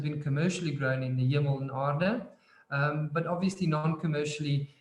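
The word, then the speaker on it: Hemel-en-Aarde: It's called Hermo Aden Did I say it? That sounds about right. Yes, it's Can you please help us out with the correct pronunciation? it's the Hemel and Aarde Valley, which is essentially the Afrikaans for heaven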